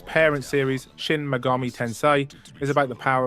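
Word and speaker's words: Shin Megami: Pronounced Chin Mega Army. Tensei 5 Vengeance. If Persona is about the power of friendship, its parent series, Shin Magami Tensei, is about the power of surviving the apocalypse.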